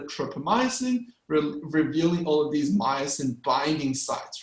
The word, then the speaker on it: myosin: So myosin rhymes with Tyson. It's like myosin, right?